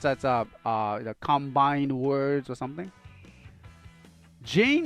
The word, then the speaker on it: Jean: Jane is pronounced like John in French.